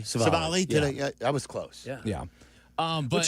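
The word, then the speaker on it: Civale: Aaron Savali. Savali? I was close. Yeah. Which is odd because that's a pretty easy name to say. It's so weird for me that I can't do Savali.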